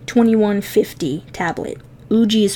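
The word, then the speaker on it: Ugee: I use an Uji 2150 tablet. Uji is spelled U-G-E-E.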